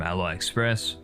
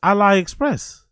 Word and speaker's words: AliExpress: We'd go through he pronounces AliExpress Alli Express. Is that how people pronounce it? Isn't AliExpress pronounced AliExpress? Not Ali Express. We got retroactive. Is that how you pronounce AliExpress? I thought I thought it's Ally. It's Ali.